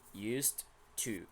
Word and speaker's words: used to: to you have to be careful with the pronunciation of this word this is used with t sound remember the Ed pronunciation for regular verbs in past form so here we have an voiceless sound a voiceless sound before so it is sound